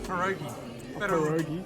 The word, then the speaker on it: pierogi: How do you pronounce this? It's pierogi.